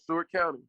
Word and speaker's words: Seward County: Is Seward County? Did I pronounce it right? Yes, sir. Seward County.